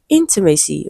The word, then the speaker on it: intimacy: Okay, so intimate as a root word is stressed on the first syllable, and even after adding the suffix, the stress is still in the same position, first syllable, and it is the